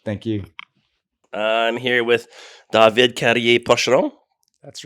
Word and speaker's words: David Carrier-Pocheron: I'm here with David Carrier-Pocheron.